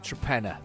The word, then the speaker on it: Torpenhow: Went past the place the other day, and it looks like what's it called, Torpenhow, but the locals pronounce it Trepenna.